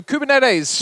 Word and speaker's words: Kubernetes: not heard of it is a Greek word which a gentleman in the audience early today had told me off of pronouncing wrong but I said I pronounced it better than most of my American colleagues so apologies to to